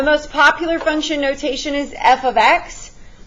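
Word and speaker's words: f(x): ex explanation the most popular function notation is f ofx pronounced f ofx you need to know that this is not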